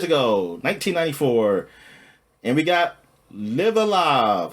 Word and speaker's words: Live A Live: we got live alive I think that's how you pronounce it right not live a live or live Alive live alive I think it's live alive oh it's laive okay I think I'm not totally sure to be honest with it all right it's it's the uh Stupid English where you can pronounce this two different ways uh but uh I